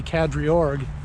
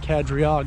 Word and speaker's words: Kadriorg: you heard that correctly i've been mispronouncing it or at least misreading it this whole time there's a second r so it appears to be kadriorg not kadriag as i said earlier which is a